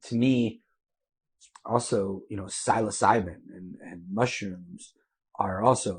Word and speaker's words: psilocybin: And it's just like the tremendous benefits of, I can't pronounce the P word for mushrooms. What is it? Psilocybin?